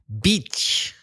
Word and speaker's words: beach: confuse it with Playa beach AC what's the difference in the vowel sound fee female dog is a short sound and beach playa is the long e sound make it very Long Beach well maybe not that